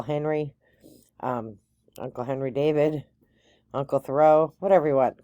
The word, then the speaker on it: Thoreau: great place to visit they told they told me that it's pronounced thorough so I Tred to